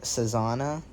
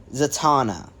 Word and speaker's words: Zatanna: it it's not um I think her name's like sazana it's something of that nature so I'm just quickly checking because I don't want to keep pronouncing it wrong zatana dang it I was